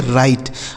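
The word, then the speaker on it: right: राइट। आर आई जी एच टी इसे पढ़ा जाएगा राइट मतलब क्या हो जाता है दोस्तों?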